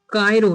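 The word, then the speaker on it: Cairo: तो याद रखिएगा कायरो। ठीक है? कायरो इसकी प्रोनाउंसिएशन है।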